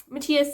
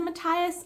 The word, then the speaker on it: Matthias: And I understand that the show also said Matthias, and I think that that's how generally people pronounce that character's name. But here in Denmark, it is actually a really common name, but we say Matthias.